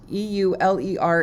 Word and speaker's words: Euler: got our euler angles which is e-u-l-e-r is pronounced euler and we're going to